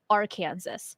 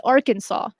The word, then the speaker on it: Arkansas: Now, if you don't live in the United States and you see the word Arkansas, you would pronounce it Arkansas, because Kansas, this sounds like Kansas.